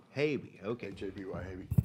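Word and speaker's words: Haby: Havey. Havey, okay. H-A-B-Y, Havey, like All baby.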